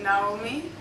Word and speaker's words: Naomi: I'm Naomi. In Togo we pronounce it Naomi, and I'm with the cohort from January 2017, and I'm in Lomé.